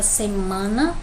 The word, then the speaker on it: semana: Aqui nós temos a palavra semana, man é a mais forte, né?